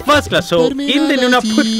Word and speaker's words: Nunaput: Or Nunaput. Nunaput. Yeah. Okay. First class. So in the Nunaput right now, what we're going to do is Mr.